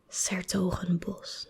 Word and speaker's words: 's-Hertogenbosch: The apostrophe S stands for des, and this is Hertogenbos. So it's Sertogenbos. That's how you say it.